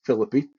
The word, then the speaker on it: Philippi: Church which is in Philippi West Virginia spelled the same as Philippi in the Bible but we pronounce it as philippy in West Virginia I was I was